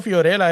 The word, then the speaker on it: Fiorella: Siempre he dicho Fiorella, ¿así se pronuncia?